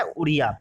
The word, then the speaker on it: उड़िया: आपको उड़िया की स्पेलिंग भी पता है, ठीक है, आप लोग जानते होंगे उड़िया की स्पेलिंग क्या होती है, ODIA होती है, ठीक है। तो उड़िया, लेकिन प्रोनाउंसिएशन उड़िया होता है, ठीक है।